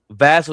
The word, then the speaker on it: Vassell: Vassell does not. His last name does not rhyme with Castle. It's Vassell, like Sam Cassell.